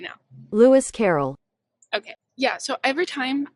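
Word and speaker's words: Lewis Carroll: I actually never had to say his name Louis Coro Carol I'm so sorry I am saying his name wrong I'll do a voiceover correct pronunciation right now Louis Carrol okay yeah so every time I want to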